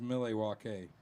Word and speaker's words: Milwaukee: And I was like, dude, this guy's put out like 3 more records since I It's actually pronounced Milwaukee.